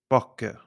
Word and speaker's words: bakke: consonant after it, and short if there are 2 consonants after the vowel.